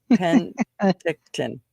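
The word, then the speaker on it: Penticton: And then I just butchered it. Pentictton.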